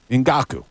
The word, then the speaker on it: Ngakoue: Ngakoue.